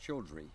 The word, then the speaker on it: Childre: It was Doc Childre or Childre? It's pronounced Childre.